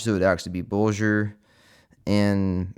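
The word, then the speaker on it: Bolger: For example, Bulgur has G as in bulge, so it would actually be bulgur, and Matham rhymes with fathom.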